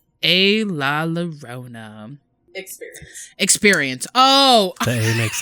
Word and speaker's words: La Llorona: The legend of La Llorona, pronounced La Llorona.